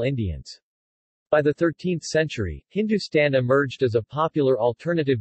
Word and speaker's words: Hindustan: Vedic Sapta Sindhu while HND stn pronounced Hindustan is found in a